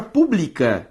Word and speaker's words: pública: A palavra pública e a palavra pública, ambas existem na língua portuguesa e se diferenciam como? Pela sílaba tônica. Publica, paroxítona. Pública, proparoxítona.